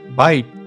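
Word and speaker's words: byte: But not spelled like the way you would spell bite, but it was B-Y-T-E, bite. Or you could say bit.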